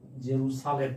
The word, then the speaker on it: জেরুজালেম: রাজধানীর নাম হচ্ছে জেরুজালেম উচ্চারণটা হল জেরু জেরুসালেম ঠিক আছে জেরু সালেম ইয়ামেনের রাজধানীর নাম হচ্ছে